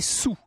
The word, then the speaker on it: sols: D'ailleurs, je dis trois sols parce que ça s'écrit comme ça mais à l'époque, on prononçait sous. On écrivait trois sols mais on disait trois sous.